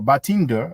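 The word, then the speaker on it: Badinter: Now, this measure came out in 1986, and it was inaugurated by someone called Robert Batender, or Batinder, as you will pronounce it with the English accent.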